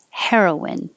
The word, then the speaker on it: heroine: know it's past tense both of these are pronounced the same the one spelled with an e means the female hero and the one without the e is the drug but they sound the same heroine hair like hair